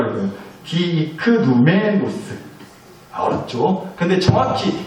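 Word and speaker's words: διικνούμενος: 디크누메노스라고 읽어요. 디크누메노스.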